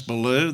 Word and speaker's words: Belew: and that's good and my name is Balu that's spelled be e ll e w my wife